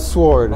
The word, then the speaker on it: sword: What's your take like the silent W on the word sword? On the word sword. It should be spelled S-O-R-D.